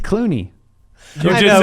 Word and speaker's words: Clooney: wanted to say Clooney, and I said it wrong. Cloney? Clooney.